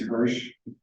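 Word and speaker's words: Hirsz: His last name is Hirsch, which is spelled H-I-R-S-Z, as in Ukraine.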